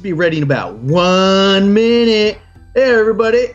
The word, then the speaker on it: Minit: ago and if you yeah minute and by the way it's spelled m-i-n-i-t so if you search for it's not spelled like actual minute but uh it's um